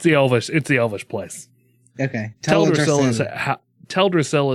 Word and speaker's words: Teldrassil: Teldrassil is always how I have pronounced it, but I've also heard it Teldrassil.